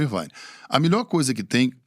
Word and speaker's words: Irvine: Aí o Ed Irvine, não, o Ed Irvine, não, o Ed Irvine. Essas 3 pronúncias ele falou. E depois foi se descobrir que o certo era o Irvine.